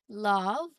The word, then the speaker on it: love: Love. This is a common exception to the long vowel effect. The E is silent, but it doesn't make the O sound long. Okay? It's love only. It's pronounced as love.